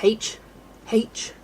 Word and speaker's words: herb: Where did the H go? Why do you say herb? It will... That will never cease to fire me up. My mum will just be like, Jess, calm down, it's not that deep. We dropped the H sound like the French pronunciation.